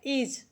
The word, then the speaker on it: is: अगला शब्द लिखा है इज क्या लिखा है देखिए लिखा है आई एस तो आई एस का प्रोनाउंस होता है इज हम य को कहीं-कहीं जा भी पढ़ते हैं और सा भी पढ़ते हैं तो इज हो